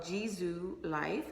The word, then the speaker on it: JISULIFE: the summer time so the brand is called jizu life is is it's spelled j-i-s-u-l-i-f-e life and or you can just